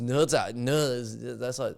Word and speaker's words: Zha: Like, even just looking at ZHA, you would obviously think it's more like Niza, or something like that, but it's ZHA.